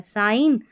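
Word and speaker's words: sign: तो जी एन जी साइलेंट रहता है। साइन और डिज़ाइन एच साइलेंट रहता है कुछ स्पेलिंग्स में।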